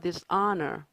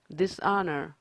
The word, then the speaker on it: dishonor: dishonor, dishonor, honor 아니고요. honor, H 발음 안 나죠?